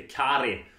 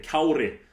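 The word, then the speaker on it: Kári: tandskydd skydde kri arnason märk väl uttalet här Han heter inte Kari utan han heter kauri eh mycket viktigt det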